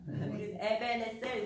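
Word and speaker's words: 에벤에셀: 에베니zer 그렇게 발음하세요. 저도 이제 공부합니다. 에베네셀 이렇게 얘기하죠.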